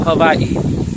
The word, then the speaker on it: Hawaii: there's no place prettier than Hawaii which is pronounced Hawaii okay the best people in the water out